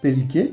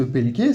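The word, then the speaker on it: België: fonctionne la France h la Belgique pelk alors justement la Belgique si vous reconnaissez pas le mot c'est normal c'est parce que pelk ça vient ni du français ni de l'anglais ni que sais-je en fait ça vient du néerlandais l'autre langue de la Belgique et c'est comme ça qu'on dit la Belgique en néerlandais puisqu'on parle du néerlandais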